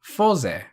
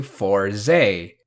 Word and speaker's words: Fourze: to an english word so in japanese it would be fosei and in english it would be closer to four zay forze i'll talk about pronunciations again